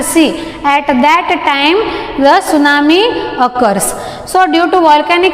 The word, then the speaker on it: tsunami: It's not a T tsunami, it's tsunami. T remains silent.